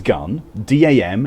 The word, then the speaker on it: Gundam: there to pronounce gundam gun is gun d am is damn gundam are you thinking gundam